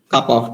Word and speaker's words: kappa: which is denoted by Kappa of t okay this notation we looks like K but we'll pronounce it as cup of d is defined to be